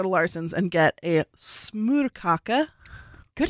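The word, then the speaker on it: smørkage: Someone would always go to Larsen's and get a smorkage. Good pronunciation.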